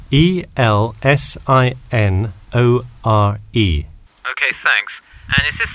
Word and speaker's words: Elsinore: I'm sorry, was that Eleanor? Could you spell that for me? Sure, it's Elsinore. E-L-S-I-N-O-R-E.